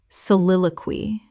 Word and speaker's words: soliloquy: Soliloquy. Correct pronunciation. Soliloquy. Four syllables with the stress on the second.